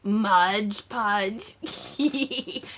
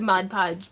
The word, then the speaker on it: Mod Podge: there it is my Mudge PGE it's Mod Podge but I was saying it wrong and so many people gave me such flak about it that I was like so I wrote it in it's Modge Podge um